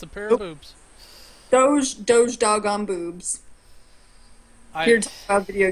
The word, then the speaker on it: doge: up with the name doge this is do GE and sometimes juji's pronounced like a J or whatever ya know